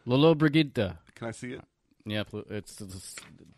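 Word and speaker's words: Lollobrigida: To help us with this pronunciation. Lolo Brigida. Can I see it? Yeah, It's either Lolo Brigida or Loyo Brigida.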